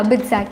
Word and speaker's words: BITSAT: by the minister have any implications on the bitsat exam which is the entry for builder institute is that how you pronounce it yeah a bit sad yeah yeah good but with statement is uh